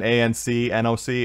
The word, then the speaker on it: AnCnoc: So it's even though there's an A-N-C, N-O-C, it's just Ancnoc.